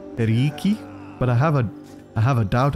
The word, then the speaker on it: perioikoi: And he basically told me that the way I pronounce perioikoi is wrong, apparently. Anything with the alphabet OI is pronounced as an E, so it should actually be periiki.